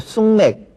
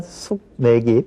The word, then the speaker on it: 숙맥: 수세미라든가 뭐 쑥맥 쑥맥이라고 안 그러죠. 하지만 숙맥이 펴준고요.